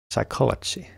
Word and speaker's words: psychology: Psychology.